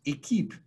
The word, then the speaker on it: Equipe: us to the name equip equip which is pronounced a keep in french means team so a